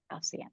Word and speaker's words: Halcyon: How do you pronounce that? Halcyon, yes, okay.